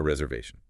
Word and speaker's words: reservation: A reservation. And the stress is way at the end.